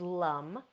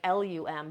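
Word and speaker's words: Lam: root chakra is Lum it's pronounced Lum like l-u-m but it's actually spelled l-a-am-l-a-m but the a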